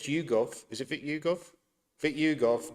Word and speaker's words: Vitiugov: Vic Yugov not Vitugov.